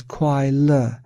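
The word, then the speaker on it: 快乐: Ordinary beings mistakenly perceive this entire process of changing feelings as happiness pronounced as quail in Chinese. Quai means fleeting and L means alleviation.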